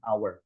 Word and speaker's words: hour: An hour, di sini meskipun hurufnya pakai h ya, tapi harusnya bacanya an hour tanpa h di sini.